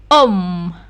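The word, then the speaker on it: homme: Nah, kita sudah tahu ya kalau huruf H tidak berbunyi ya. Tidak berbunyi dalam bahasa Prancis, jadi ini membacanya om, laki-laki.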